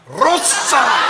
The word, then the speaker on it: Rosa: Rosa! But you have to say it like, you have to really roll it long.